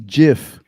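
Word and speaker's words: GIF: images and other large asset also do you pronounce it ave for eve it's jif soft soft meat all right patrick mean in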